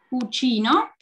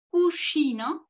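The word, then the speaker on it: cuscino: Y la tercera es cucino, con la sh, ¿no? Cucino, que quiere decir almohada, ¿ok?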